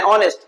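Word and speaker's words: honest: दिया एन आर, एन ऑनेस्ट, इन दोनों के अंदर एन क्यों लगा है? क्योंकि इन दोनों वर्ड के अंदर एच जो है वो साइलेंट है, और एच साइलेंट होने के बाद ये ओ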